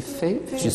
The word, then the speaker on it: fœtus: Si vous avez un mot comme celui-ci, comment on prononce? Est-ce que c'est fœtus ou bien fœtus? C'est fœtus.